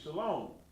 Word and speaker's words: shalom: Here it is so you can understand it and understand why it's a long O sound.